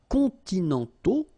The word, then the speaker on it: continentaux: Okay, so les climats continentaux, remember, final X not pronounced, and then this AU together, they give you the sound O, okay?